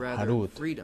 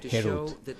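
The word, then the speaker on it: חרות: No pronuncia este tallado, Harut, pero más bien libertad, Herut.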